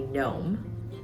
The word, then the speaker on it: gnome: And a silent G in English would be gnome, with the G at the beginning.